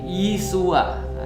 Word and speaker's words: Yesua: Jadi kalau misalnya di dalam Katolik pernah dulu saya diajarkan Yesus itu bahasa Ibraninya adalah Yesua. Yesua. Jadi Yesua itu ya bahasa Ibrani ya. Kalau dalam bahasa Aramaik, bahasa Aram itu bacanya Yesu.